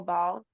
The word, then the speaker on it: Baal: Well, yeah, if it's like worship of Baal, right? Am I saying it right? Yeah, Baal.